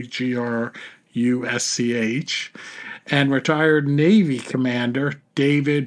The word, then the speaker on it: Grusch: Safe Aerospace, and retired Air Force Major David Grusch. I think I'm pronouncing it correctly, Grusch, and retired Navy Commander David Fravor.